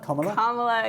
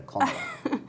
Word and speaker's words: Kamala: How is it pronounced? Kamala? Kamala, yay. Kamala. It sounds a bit weird in a British accent, though. Kamala.